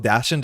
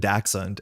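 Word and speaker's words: dachshund: So Bob, people say both dashund and daxund and they're both correct. They just kind of matter what side of the ocean you're on.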